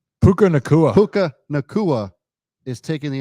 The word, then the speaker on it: Puka Nacua: And a guy named Paku, how do you say it? Puka Nacua.